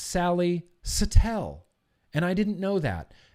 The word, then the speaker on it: Sally Satel: mean years ago right I've been calling her Sally satel and now I feel dumb because I love Sally Satele and apparently her name is pronounced Sally Satele and I didn't know that go follow all